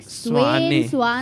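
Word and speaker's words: Svane: How do we pronounce his surname, by the way? Frederick Swane, everybody Swane.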